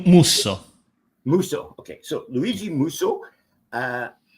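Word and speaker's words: Musso: where are we Luigi muso is that correct pronouncing how's it spelled h m SSO M like Milan yeah M muso muso okay so Luigi muso uh who who was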